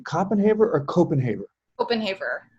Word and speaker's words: Kopenhaver: 2016 sba grad have i been mispronouncing your last name coppenhaber or copenhaber openhaver copenhaber thank you very much uh work examines universal